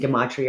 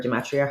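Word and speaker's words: gematria: And obviously we're well verssed in the mathematics as well and and gimmatria or gimatria, however you want to pronounce it, and the universal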